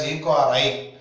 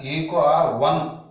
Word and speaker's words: EcoRI: Sorry, don't pronounce it as EcoRI. You have to pronounce it as EcoR1. 1 means first order of identification. So you have to pronounce it as EcoR1. Don't say EcoRI.